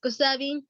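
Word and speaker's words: Kupsabiny: But for us, you pronounce it Kusabing.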